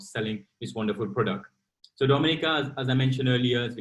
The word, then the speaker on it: Dominica: good it is spelled d-o-m-i-n-i-c-e it is not dominican republic it is pronounced dominica and situated between walu and martinique